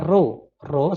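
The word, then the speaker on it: ρ: = m per Pi jadi ini dibacanya ro-ro sama dengan mrp Oh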